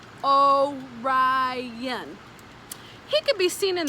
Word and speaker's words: Orion: the hunter's name is orion you say it like this oh ryan he could be seen